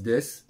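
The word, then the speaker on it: です: ne veut rien dire ça s'écrit dessous mais ça se dit des et ça veut rien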